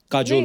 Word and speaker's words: Kajol: बड़ा यूनिक नाम है आपका, काजोल। काजल है ना, काजल होता है, काजोल हाँ, मतलब बंगाली में काजोल, बंगाली में ऐसे बंगाली में ऐसे उसका प्रोनाउंसिएशन है पर सर।